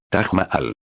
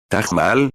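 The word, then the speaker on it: Taj Mahal: Hotel Tamajal. Billy Paul dice Tagmaal. Tagmaal. Sí, bueno, en el hotel.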